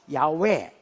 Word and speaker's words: 야훼: 여호와는 여러분 우리나라 말로 된 지 마음대로 발음이고 정확하게 말하면 야훼, 그 다음에 엘로힘, 엘샤다이,